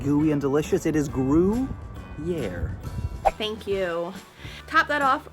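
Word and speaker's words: Gruyère: I believe the word you're looking for is Gruyere, pronounced Gruyere.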